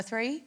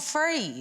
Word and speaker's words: three: on like you know the word like free as it like the number three oh yeah he's like it's not free three it's like three